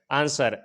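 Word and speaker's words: answer: कि अगर एस के बाद डब्लू हो तो साइलेंट होता है। जैसे आंसर, एस के बाद डब्लू आया है तो यहाँ पर आंसर पढ़ेंगे, आंसर नहीं पढ़ेंगे।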